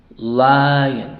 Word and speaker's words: lion: Lion. Uno podría decir que es una sola que es una sola sílaba, pero no.